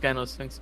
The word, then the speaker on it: Gynosphinx: Technically, it is pronounced Gynosphinx, but yeah.